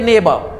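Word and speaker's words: neighbour: ये शब्द देखते हैं, ये शब्द इसको पढ़ेंगे नेबर। ब्रिटिश इंग्लिश में क्या होता है कि लास्ट रा साउंड नहीं बोली जाती है, तो फिर इसका प्रोनाउंसिएशन होगा जाकर के नेबर।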